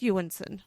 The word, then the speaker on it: Jonsson: name is isakin yanson anyone looking at his name it looks like Johnson j o n SS o n like whatever but it's yanson I have or Y